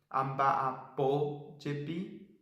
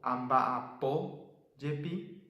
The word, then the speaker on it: amba'apójepi: Cuando usamos yepi, tenemos que agregarle una tilde a la última sílaba de la acción que usamos con yepi. Por ejemplo, amba'apó yepi. Entonces le ponemos una tilde a la última sílaba de la acción ba'apó, amba'apó yepi, para poder saber dónde cargar la voz cuando unimos con la partícula yepi.